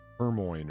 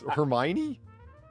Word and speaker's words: Hermione: Well, she's Hermione, right? Yes. Kick the memories while they're down, Polly. Why not? how do you, I don't know. It's Hermione? How do you say it? Yeah. Hermione?